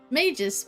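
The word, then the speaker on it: Magus: it's the major sisters mages with a hard g and like a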